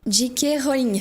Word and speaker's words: J.K. Rowling: J.K. Rowling. Il faut le prononcer à l'anglaise.